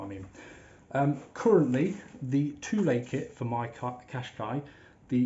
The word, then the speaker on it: Thule: they do do the i'm gonna say tool a some people call it thule because it's about t-h-u-l-e uh but apparently the correct pronunciation is too late i think it's a scandinavian brand not sure don't quote me on it but i'm going to call it too late but you know i